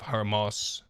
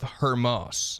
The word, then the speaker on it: Hormuz: it affected certain jobs with the Strait of Hamas. I feel like I'm saying that so wrong. How do I pronounce this? Let me read it real quick. Strait of Hormuz.